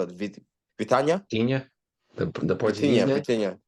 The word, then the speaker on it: Vitinha: The center mid the most important player right now for PSG is Vitania. Vitania, how do you spell it? Vitania? Vitinha, the Portuguese Vitinha, guy.